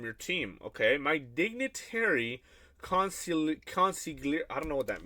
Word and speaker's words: consigliere: How do you pronounce this? Hold on. Consigliere. Conciliary? Consigliere.